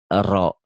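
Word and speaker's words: ر: Coba Ibu ini ro. Salah nggak kalau orang seberang bacanya ra?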